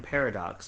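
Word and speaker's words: Pairodocs: You could spell it like this, P-A-I-R-O-D-O-C-S. Like a pair, Odox. Like a pair of doctors. Exactly, but like Irish. O with a little... Yeah, Odox.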